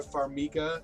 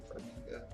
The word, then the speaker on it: Farmiga: of Patrick Wilson and Vera Farmiga, I believe is how you pronounce the last name, Farmiga, who play the Warrens, a couple that are exorcists essentially.